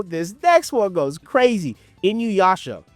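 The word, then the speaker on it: Inuyasha: Inuasha. Yes, Inuasha. That is that is correct.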